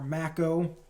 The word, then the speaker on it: Mako: down next to a broken Mako or Macko depending on how you want to pronounce it I'm gonna say Mako but down next to a